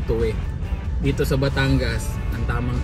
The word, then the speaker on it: Tuy: n suo Ayan so mapapansin niyo ang spelling nito ay t Uy Ayan pero pag binasa yan ng normal toy pero doun sa yung tamang yung tamang pagbigkas niya ay tuwi dito sa Batangas ang